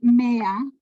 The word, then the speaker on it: mea: Ahorita que leíste mea, en el latín eclesiástico se pronuncia la E, ¿no? La EA se pronuncia E. Me.